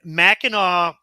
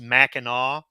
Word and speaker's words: Mackinac: but uh yeah and Mackinaw is spelled Mackinac but it's pronounced Mackinaw so you'll see it